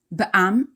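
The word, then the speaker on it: בעמ: literally means chutz la'aretz, outside of the country, pronounced chul in its abbreviated form. Ba'am is abbreviation for be'eravon mugbal, limited company or LTD in Hebrew, pronounced ba'am.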